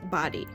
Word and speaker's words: Bodie: So we asked a park ranger at the Body Island Lighthouse, and she advised us that it is pronounced Body.